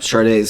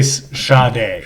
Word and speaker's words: Sade: Yep, Sade's. They always used to say Sade, but it's Sade.